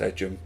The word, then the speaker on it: Egham: away with the ball I'm pretty sure it's pronounced Ejim I can't imagine a town being called Egham but Martin with the